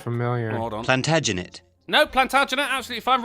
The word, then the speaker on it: Plantagenet: that capitalized isn't that a last name like plutat i think maybe you're not quite saying it right that sounds familiar plantagenet no plantagenet absolutely if i'm relating to the